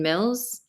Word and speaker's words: Mills: my name is Mills I'm also a business coach and a dynamic speaker my name rhymes with bills you know the one the dollar dollar bills and I want to